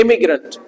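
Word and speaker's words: immigrant: होता है यह आपका ई एम आई जी आर ए इसको पढ़ा जाता है एग्रेंट ये है ना ए पढ़ा जाता है इमीग्रेंट बोलो इसको ए तो पढ़ लो इमीग्रेंट बोलो इमीग्रेंट इम ग्रंट इमीग्रेंट र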